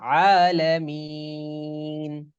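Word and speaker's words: العالمين: আইন আটা হবে হারা একদম জবর ভিতর থেকে, গলার একেবারে ভিতর থেকে। আইন হারা জবর আলামিন। হ্যাঁ, গলা মাঝখানে জি। আলামিন। আইন আইন হারা জবর আলামিন। আলামিন জি আলামিন।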